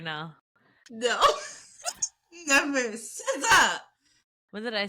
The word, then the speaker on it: SZA: It's SZA.